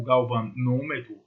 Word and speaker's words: galvanômetro: Galvanômetro ou galvanômetro aberto ou fechado, geralmente a gente usa a pronúncia mais fechadinha, galvanômetro, é um instrumento que pode medir correntes elétricas de baixa intensidade.